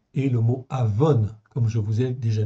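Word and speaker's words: עָוֹן: Ces deux mots, c'est très proche, mais ils s'écrivent pas du tout pareil. Okay, ça se prononce presque pareil, okay, d'où la confusion, mais ça ne s'écrit pas de la même manière.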